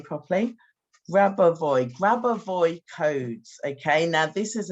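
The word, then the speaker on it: Grabovoi: Now, I want to tell you about, let me say his name properly, Grabavoy codes, okay?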